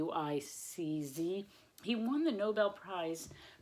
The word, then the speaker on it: Sienkiewicz: It's a Polish name, Sienkiewicz. It's Sienkiewicz.